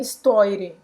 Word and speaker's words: histoire: na hora da emoção de que não era histoire, que é histoire. Histoire. Histoire. Ele falou como se escreve, Sim. como se estivesse lendo em português, tá?